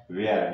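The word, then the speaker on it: where: डब्ल्यू आ रहा है, तो एच क्या रहेगा, साइलेंट रहेगा। वेयर, वेयर में भी देखें, वेयर में क्या आ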